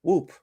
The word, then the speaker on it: Whoop: that they are coming up with to rival Whoop. Right. I don't even know how you say. Is it Whoop? It's Whoop.